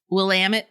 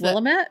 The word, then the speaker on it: Willamette: took one day and we drove out to willamette valley which i learned willamette or willamette it's willamette but it's spelled willamette so yeah so i always thought